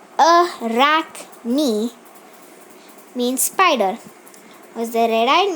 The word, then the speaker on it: Arachne: mind an ancient Greek Arachne pronounced a rock me mean spider was the